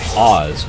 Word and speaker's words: Az: pronounced her name correctly like a uh Oz Wizard of Oz but as o uh